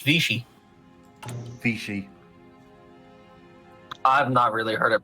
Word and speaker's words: Vichy: actual Hitler I mean Vicky France was the thing okay just because Vicky France that's a bad example that's supposed to be pronounced I want you to pronounced Vichy I really heard it